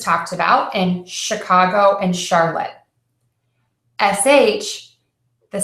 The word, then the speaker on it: Charlotte: or the girl's name Charlotte spell the CH but pronounced as sh for those of you